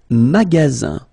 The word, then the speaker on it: magasin: Le magasin. Le magasin. Okay, remember you've got only one S between two vowels. Then you get the sound Z, alright?